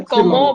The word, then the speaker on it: comment: जिसे हम comment बोलते हैं ना, comment.